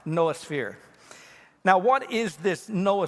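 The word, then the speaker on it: noosphere: the way it's spelled some of you may think that looks like new sphere but it's not it's pronounced noah sphere now what is this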